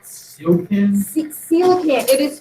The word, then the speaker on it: coelacanth: A coelacanth? Sealkin? Coelacanth. It is spelled CEO LACANTH.